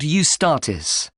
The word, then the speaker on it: Eustatis: The next day, the 18th, there's a performance by a ballet company called Eustatis. Sorry? The name is spelt E-U-S-T-A-T-I-S.